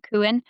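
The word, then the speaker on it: Cuán: Like, so say my example, my little boy's name, Kuin. Kuin just writes Cooin, but it's spelled Cufan.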